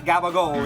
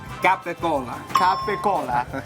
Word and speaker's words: capicola: this one everybody's favorite it's not gabao it's Capa capicola next word is this